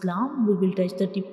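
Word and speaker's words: لام: Now next letter is lam, lam, lam. So when we pronounce lam, the tip of the tongue will touches the back side of the gum, that is back side of the upper front teeth.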